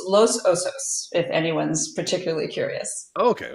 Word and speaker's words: Los Osos: So, is is is it pronounced loss osos? It's interesting because there's there's lo Angeles, right? Los Angeles, and then it's but we say Los Osos, and I don't know